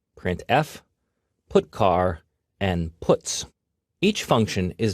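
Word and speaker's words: putchar: They are pronounced: printf, putCar, and puts.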